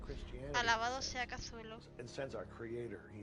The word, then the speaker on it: Cthulhu: There lay great Cthulhu and his hordes, hidden in green slimy vaults,